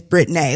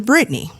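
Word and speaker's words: Brittnae: you that is b-r-i-t-t-n-a-e it is spelled the way it said however those out there in the world don't want to call me by my real name so people will revert to Brittany so when I collapsed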